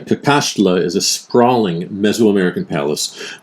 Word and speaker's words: Cacaxtla: I pronounced it wrong on the video. It's called Kakashla. And Kakashla is a sprawling messoamerican